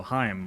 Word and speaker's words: Haim: but I ran into Heim, the Three Sisters band. They were eating breakfast, and my friend was like, no, Heim, like Chaim.